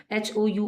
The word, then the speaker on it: hour: आर एंड को, HOUR को ARE, जो इंग्लिश का आर बोला जाता है ना वैसे बोलना है, क्योंकि इसमें एच साइलेंट है।